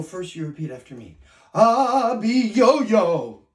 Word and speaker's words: Abiyoyo: you repeat after me ah be yo-yo you do it very good you have to say it that way because he's a terrifying monster okay now um this